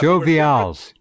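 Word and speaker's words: Joe Vialls: An Australian journalist by the name of Joe Vials noticed that Joe Vials. Thank you, because great. I've been wanting to know the correct way to pronounce that.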